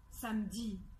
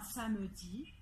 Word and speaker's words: samedi: va prendre des exemples c'est le mot samedi samedi alors samedi après le m il y a bien eu et pourtant en prenant soin on dit on dit pas ça me dit on dit samedi alors